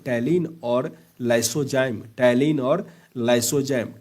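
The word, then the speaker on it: ptyalin: टैलीन और लाइसोजाइम। टैलीन और लाइसोजाइम। टैलीन का स्पेलिंग पी टी व एल आई एम होता है। अगर आपको इंग्लिश में ऐसा आ गया तो कंफ्यूज नहीं करना।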